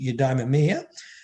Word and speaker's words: eudaimonia: um aristotle had this term i have trouble pronouncing it eudaimonia and we call it flourishing and the and